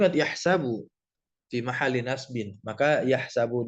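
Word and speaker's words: يحسب: Nah, kalau dari sisi kiroat, ada kiroat yang membaca yahsibu dengan mengkasrohkan sinnya. Kalau kita bacanya ya yahsabu, ya. Nah, yang membaca dengan fathah, yaitu sama seperti bacaan kita, tentu bacaannya Imam Asim, ya.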